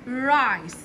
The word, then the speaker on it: rice: هنا رز اكتبها رايس، ر حرف الار، اي حرف الاي، رايس السي والحرف الاي في اخر الكلمه بكتبه وما بنطقوش، وابدا احط الكلمه في جمل من دول.